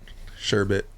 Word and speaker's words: sherbet: Well, the Instagram is Sherbet Glass Art, not Sherbet. Sherbet. It's a commonly mispronounced word, but Sherbet Scoops is a secondary page I have where I run auctions all the time.